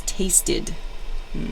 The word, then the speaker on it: tasted: Another example is tasted. They have that id sound at the end.